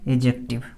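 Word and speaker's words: adjective: एडजेक्टिव पढ़ना है इसको, ए और जे के डी जो होता है वो साइलेंट होता है, तो इसको पढ़ना है एडजेक्टिव।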